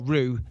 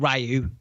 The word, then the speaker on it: Ryu: And I will just say this, as Ken or Ryu, not Ryu, that's how you pronounce it, idiots.